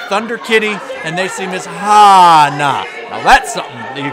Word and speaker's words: Hannah: Accent on the ah. Extra ah. Excuse me, Miss Hana. Cody got it.